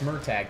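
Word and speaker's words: Murtagh: I know that the author says it's my tag, and it's supposed to be pronounced Myrtag, but it's spelled Myrt, and I will always pronounce it that way.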